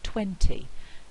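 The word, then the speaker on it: twenty: In the word 20 we have a stressed syllable, which is this one here, so that's the strongest syllable, and we've got an unstressed syllable, which is weak. So twen is produced strongly and t is a weak syllable, and we talked about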